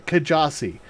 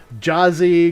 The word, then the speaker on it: Kjasi: difficult because you know how would most people pronounce my username it's you know kajazi you know people call uh jazzy because the k is silent or you know yasi it's just it's it it can be troublesome but i go with you know kajazi it's just